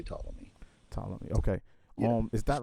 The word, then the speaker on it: Ptolemy: last name is pronounced ptolemy so we just oh we just don't yeah we don't pronounce the p and we just say ptolemy okay um is that